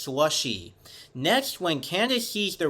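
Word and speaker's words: Slusee: Slushy Burger was originally spelled as Slushy, S-L-U-S-E-E, but still pronounced Slushy.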